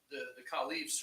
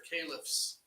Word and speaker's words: caliph: they'll call these people the caliphs or caliphs, depending on however you want to pronounce that.